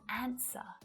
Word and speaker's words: answer: But a silent W pops up a little more frequently than you realize in words like to, sword, and answer. You don't hear it at all.